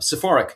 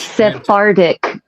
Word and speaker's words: Sephardic: The Oh, you're going to correct me on this pronunciation. The suffer Oh my god, I'm doing it wrong. I'm doing it wrong. Um, Sephoric Sephoric Jewish Sephardic Sephardic Sephardic.